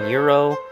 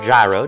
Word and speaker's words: gyro: chicken salad wrap, Mediterranean gyro, or gyro, depending on where you're located is how you pronounce that, and the European grilled cheese.